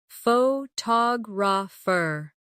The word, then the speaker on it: photographer: Photograph. Now, photographer. Notice how the stress changes when the word becomes longer.